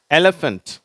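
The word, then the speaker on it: elephant: ஓசையை உருவாக்குது இல்லையா அதுதான் அடுத்தது எலிபன்ட் சரியா எலிபன்ட் இந்த ஏ அப்படிங்கறது கொஞ்சம் நல்லா உச்சரிக்கிறோம் அழுத்தி என்வலப் சரியா என்வலப் இப்ப உங்களுக்கு எலிபன்ட்னா தெரியும் யானை சரியா அததான் எலிபன்ட் அப்படின்னு சொல்றோம்.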